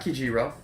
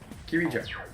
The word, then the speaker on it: Kirijo: No, I said it right then, yeah, not Kijiro, Kirijo.